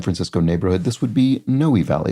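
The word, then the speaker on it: Noe Valley: neighborhood this would be noy Valley it looks like no Valley but it's pronounced noi Valley is a neighborhood in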